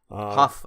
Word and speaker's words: Hough: Is that how you spell it? H-O-U-G-H. Huff. Oh, you know, Huff? I bet it's Huff. Huff.